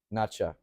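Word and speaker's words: Nezha: Chinese animated film called nacha and it's spelled n Zha or n NE e z h but it sounds like nacho like nacho ler yeah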